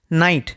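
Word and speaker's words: knight: এটার সঠিক উচ্চারণ হচ্ছে প্লামার। নেক্সট রয়েছে নাইট। নাইট।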